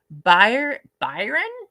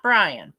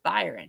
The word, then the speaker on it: Byron: Byron? Not Brian. Byron. Just want to make sure I'm pronouncing that right.